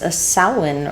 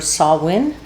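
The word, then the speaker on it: Samhain: Halloween was known by the Celtic and the Gaelic people as a sin or sawin depending on how you pronounce it.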